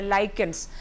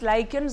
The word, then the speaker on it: lichens: So, such indicators, normally the lichens, so it can be pronounced as lichens or lichens.